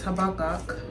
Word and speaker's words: Habakkuk: so he has me in the book of her buck up I can't pronounce his name but it's habakkuk and yeah I have a lot to read